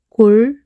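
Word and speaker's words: 곬: 골, 골. You can ignore the 시옷 S sound, which means waterway.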